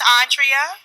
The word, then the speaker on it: Andrea: your name is miss my name is andrea andrea yeah three syllables yes sir three syllables